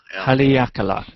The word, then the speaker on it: Haleakala: somebody emailed me this we were talking about pronunciation earlier and it's Halle Alcala I'm the actor Haleakala I've been there that's a great note so